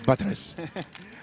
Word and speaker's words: Batres: that later hey so i was heard it's pronounced buttress my name is petrus my name is batres you killed my father compared to that